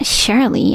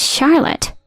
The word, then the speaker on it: Charlotte: I'm your dad right it's not shley it's Charlotte I don't have a